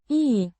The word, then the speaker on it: и: E, a conjunction meaning and pronounced I as in eat, a simple connecting word linking the phrases means light or easy.